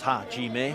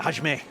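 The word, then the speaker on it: 始め: back to the middle it is actually three syllables Haim but uh all barked out in almost one syllable there Haj from the referee getting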